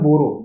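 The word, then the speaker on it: Boro: ठीक है, असम में, असम में बोरो, बोडो नहीं, बोरो ट्राइब, बोरो ट्राइब आपका असम में है।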